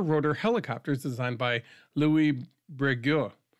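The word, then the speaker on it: Breguet: helicopters designed by Louie Breo it's French so there's I'm I'm not pronouncing the T at the end but it could be brette um but I think it's French so you don't do that uh it was tested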